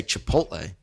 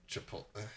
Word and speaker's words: Chipotle: it's not coffee right it's also not how you say chipotle but okay how do you say it you say it correctly you say chipotle chipotle oh man but like